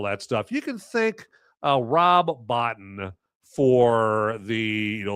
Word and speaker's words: Rob Bottin: So, anyway, but, point I was making with that is it's actually Rob Bottin is how you pronounce that here.